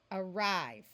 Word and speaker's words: arrive: so we have arest arrive notice in both of these words the a says uh and the rest of it we read as it is written arrival a l at